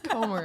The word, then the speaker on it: Comer: one thing, that you say his last name Comer, which is the Spanish word to eat. You always say Comer. I do, actually. You always I call realize that it is John Mark Comer. It's Comer.